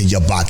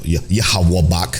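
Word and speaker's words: Yhwach: y watch or yak yak is how they say it in the I don't know yahwak is how they say it in the sub but he got Ichigo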